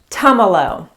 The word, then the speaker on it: Tumalo: kinds of things but think of tums like tums for your tummy that's how you say it tomolo this little town is